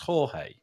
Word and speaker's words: Jorge: Is this name that I'm seeing on the screen, is that pronounced Jorge?